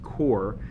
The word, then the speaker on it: QoR: Today we're going to be unboxing and swatching the Golden QoR, pronounced QoR, mini 12 half pan set of their watercolors.